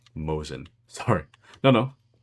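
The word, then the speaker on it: Mosin: Old rifle still a true weapon and pronounced more like Mosen.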